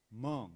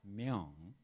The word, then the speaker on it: Myung: And Barbara Jordan, she pronounced my name like Mung, not Myung.